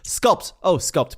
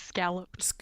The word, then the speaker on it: scalloped: Scalped potato. Sorry. Scalloped? I thought it was scalloped. It's scalloped. Yeah.